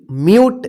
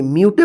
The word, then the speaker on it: mute: MUTE, म्यूट। देखिए म्यूटे मत पढ़िएगा, म्यूट। CUTE, क्यूट।